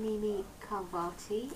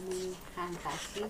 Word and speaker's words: Mimi Khalvati: Okay, well, I'm Mimi Khalvati, or Mimi Khalvati, depending what language you want to pronounce it in.